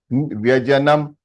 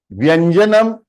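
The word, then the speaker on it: व्यजनम्: Vyajanam means fan. Vyanjanam was consonants. देखिए छोटा सा a little bit of difference in the pronunciation can change the meaning of the thing. Do you all realize this? Yes, sir. So it is important to know the science behind it to remember what is the real pronunciation, isn't it? Vyajanam. Vyajanam means to rotate.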